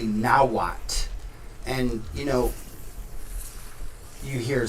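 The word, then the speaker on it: Nahuatl: that like you see a word like nihhat it's actually nawat and you know you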